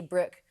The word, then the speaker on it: Brooke: But see, you nearly put 2 syllables on it. Whenever I say it, I say Brooke.